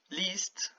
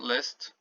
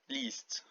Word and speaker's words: list: h so chlap bread least i letter not list least and it only means